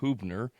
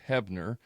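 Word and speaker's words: Huebner: ever seen my name it's h-u-e-b-n-e-r looks like hubner it's pronounced hebner no one can ever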